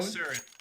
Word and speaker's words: Isurus: Isurus, I believe, is how it's pronounced.